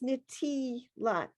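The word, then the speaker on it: נְטִילַת: And I have the pronunciation of the next to the last word before Yadayim. Nitilat.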